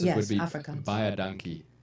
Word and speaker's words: baie dankie: baie dankie. Buy a donkey.